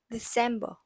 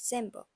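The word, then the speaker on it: Dezember: m b e r soed has a little bit s sound in it so it's pronounced as December like this December okay now let's go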